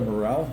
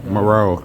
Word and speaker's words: Moreau: Isn't that Dr. Morel? Moreau.